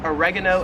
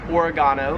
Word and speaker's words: oregano: This plant, we would call it oregano in the States. However, here in Australia, it is pronounced oregano.